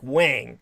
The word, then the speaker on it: Huang: But anyhow, Eddie Huang, his Ellis Island name is romanized as Huang, but it's actually pronounced like Wang, like somebody's penis, Wang.